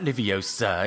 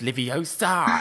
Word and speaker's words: Leviosa: And then Hermione's like, it's not Leviosa, it's Leviosa. And then can make a feather lift up in the air.